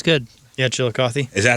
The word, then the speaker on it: Chillicothe: Yeah, Chillicothe.